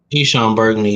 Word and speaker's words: Eshon Burgandy: Eshon Burgandy, yeah.